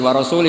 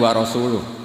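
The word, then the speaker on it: ورسوله: Allah itu terbebas, gak urusan dengan orang musyrik, wa rasulih juga gak ngurus Rasulnya. Kalau sama Rasul saja tidak ngurus apalagi sama kita. Terus sama Sayyidina Ali dibenarkan, yang benar bacanya itu wa rasuluh, Allah bari minal musyrikin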